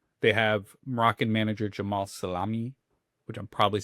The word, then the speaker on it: Sellami: Cuz it's not spelled like salami, but it's all the letters together feel like they should be They should say salami. It's Sellami.